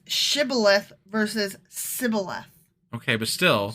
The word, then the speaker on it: shibboleth: if he was from ephraim he would say sybileth because people for me from cannot pronounce the word correctly not that they correct not that they pronounce it differently they can't pronounce it correctly because it's shibboleth versus sybil okay but still so they couldn't